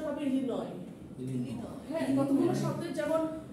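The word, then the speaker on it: Illinois: for example if ইউ সে দ্যা এস ইন ইলিনস উচ্চারণ হবে ইলিন ইলিন হ্যাঁ কতগুলো শব্দের যেমন নিউমোনিয়া আমরা কি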